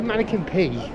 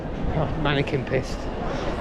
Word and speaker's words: Manneken Pis: so I'll just say mannequin p mannequin pissed it's pis as I said earlier but I I would pronounce pis as P but I've heard it say um mannequin piss I may go down